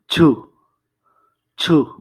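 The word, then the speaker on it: 주: আসলে এটা হচ্ছে ছ আর ঝ এর মাঝামাঝি।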